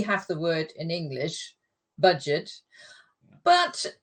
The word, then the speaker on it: Budget: the word in English budget but in German it's pronounced the French way so we' got French